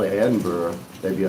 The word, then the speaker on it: Edinburg: I you we have Edinburg, Texas and I used to live there and and it's pronounced Edinburg. That's the proper way to say it in Texas. Edinburg. If you called it Edinburgh, they'd be like, "What?